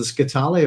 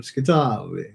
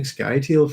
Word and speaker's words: Scytale: I speak anyway, but if you're doing Italian, to overemphasize is the penultimate syllable. and he's from Scytale, like that. But yeah, I don't know. I've been saying Scytale for years, I suppose, and it's one of those things that when you realise, oh, I think I've been pronouncing this character's name wrong, but you've been doing it for so long, it's hard to get out of the habit, if you see what I mean.